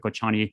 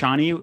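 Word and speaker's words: Kočani: Kochani, which is also a city in Northern Macedonia, it's Kocani. And Kocani, Kochani.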